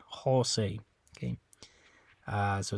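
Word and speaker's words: José: in Spanish the J the letter J always makes a an English H sound okay it's always a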